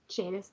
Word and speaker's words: Jadis: I I would say Jadis Jadis okay jadus that makes sense because it rhymes with Judas not that she plays